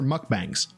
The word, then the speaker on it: mukbang: one letter off saying especially her mukbangs, which is how it's pronounced, mukbang. Uh, however, Amber Lynn pronounces them mukbangs, which really bothers me.